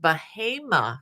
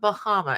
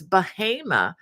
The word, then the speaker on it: Bahama: Wanda Gordon as always from I understand it's pronounced bahim not Bahama it's spelled like Bahama but you know like